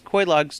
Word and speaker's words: Quelaag: So this is Quelaag's domain, or however you pronounce that. I think you pronounce it Quelaag because there's somebody who says it in the game.